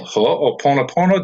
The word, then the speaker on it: ho'oponopono: okay it's an Asian Hawaiian healing art called ho'oponopono do I pronounce that right Oh pono pono yes okay